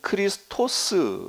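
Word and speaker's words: Χριστός: 크리스투스 누구예요 예 예수님 헬라 헬라어로는 크리스토스 얘기하고 로마 라틴어 발음으로는 크리스투스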